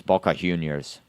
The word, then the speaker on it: Boca Juniors: The J is pronounced with a H sound. So BA Juniors. Yeah. So it's Boka Junior's with a H because J in Spanish is a H sound.